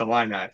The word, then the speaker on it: Illini: Yeah, isn't it, what Is that a, Illini. is it, did I pronounce Illini? it's Illini, yeah.